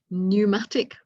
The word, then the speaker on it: pneumatic: which don't help number pneumatic with a p again silent 18 white guest silent